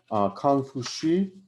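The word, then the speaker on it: Kong Fuzi: class but there was a man named kang fushi and that's become pronounced in english as confucius who lived in 551-479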